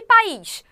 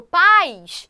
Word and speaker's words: país: também tá o e país país Eu não falo paz porque senão eu diria que país é o monossílabo Né de pai e mãe mas eu falei ali país tem um acento Então você país é